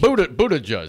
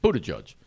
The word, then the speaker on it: Buttigieg: Buddha Judge. Think Buddha and Judge. Buddha Judge.